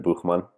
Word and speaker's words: Buchman: Hey, I'm Ethan Buchman, or as Mayor correctly pronounced it, Buchman.